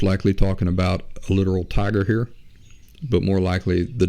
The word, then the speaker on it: Tyger: It's called Tiger. Let's see. It's called The Tiger, and tiger is spelled Tyger.